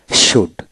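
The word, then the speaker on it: should: শুড, এস এস ইউ ডি, শুড, শুড তার মানে এল উচ্চারণ হবে না।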